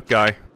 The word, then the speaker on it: Guy: name is pronounced G the Y here is pronounced as in at the end of lately G interesting I would